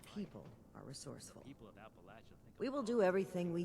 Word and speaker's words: Appalachia: talking about but okay you know what's pronounced Appalachia right no it's Appalachia wrong